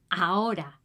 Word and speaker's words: ahora: We don't pronounce the "h" we don't say ahora is "AORA" (now) "Hay" don't say